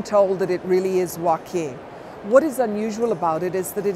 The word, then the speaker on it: Joaquin: So you may hear Joaquin, Joaquin, but we've been told that it really is Joaquin.